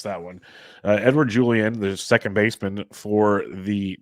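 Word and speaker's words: Edouard Julien: last week so I know that's how you pronounce that one uh Edward Julian the second baseman for the twins Big Time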